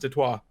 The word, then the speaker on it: Detroit: Or Detroit, I guess, as apparently it is pronounced by the French. Who founded that city, I found out this week. Apparently Detroit is supposed to be pronounced Detroit.